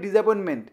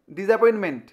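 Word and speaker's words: disappointment: অ্যাপয়েন্টমেন্ট ভালো করে খেয়াল আমরা কি বলি ডিসঅপয়েন্টমেন্ট লাস্টে যে টিটা আছে আমরা খেয়াল করি না একচুয়ালি উচ্চারণটা কি হবে ডিসঅ্যাপয়েন্টমেন্ট কিন্তু বানানটা কেমন হবে দেখো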